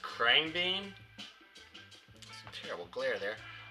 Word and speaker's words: Khruangbin: So the first one I ordered was, I think it's pronounced Khruangbin. Some terrible glare there. Khruangbin.